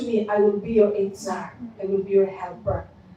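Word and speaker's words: עֵזֶר: Helper, He used Hebrew word Itzar. The spelling is E-Z-E-R, but when we pronounce it is Itzar.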